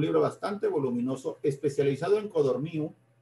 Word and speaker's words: Codorníu: bastante voluminoso, especializado en Codorníu, vuelvo a decir Codorníu, no Codorníu, acento en la I, según el biógrafo, Codorníu, y este Codorníu fue